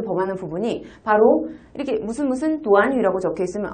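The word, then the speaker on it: 短语: 근데이 구가 한국어로는 구지만 중국어로는 구가 아니라 도안위라고 읽힙니다. 다음께 도안위. 도안위. 한 번 더위. 도안위.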